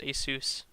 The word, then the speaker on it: ASUS: was acer asus sorry it is actually pronounced asus as i have found from asus representatives who i've talked to um so here it